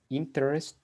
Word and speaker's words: interest: The children listen with great interest to a storyteller. Yes, with great interest. Repeat after me. Interest. Interest. Felipe. Interest. Remember that letter T and D are plosive. So you say interest.